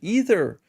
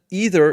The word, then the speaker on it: either: By the way, I learned the other day that either is the British pronunciation and either is more American.